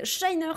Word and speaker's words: Shiner: Moi, c'est à l'anglaise. Shiner, comme dans To Shine.